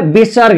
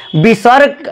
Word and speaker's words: विसर्ग: विसर्ग का उच्चारण ह से होता है, ह आधा ह होता है विसर्ग।